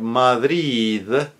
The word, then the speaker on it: Madrid: of a phrase example the word Madrid both of those D's are soften m the first one because it's preceded by a vowel second is also preceded by a vowel usually at the end of a phrase is not clearly it's not very clearly articulated but for example as in the verd truth.